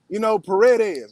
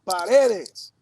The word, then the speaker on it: Paredes: You got to say his name correct. You can't say it with the English inflection. Paredes. Now, Paredes.